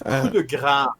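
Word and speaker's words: coup de grâce: Pronounce it properly. It's coup de grace.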